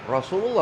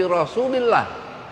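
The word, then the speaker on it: رسولِ الله: Kalau kata Rasulullah menjadi sifat dari kata Muhammad, maka bacanya bukan Rasulullah tapi Rasulillah.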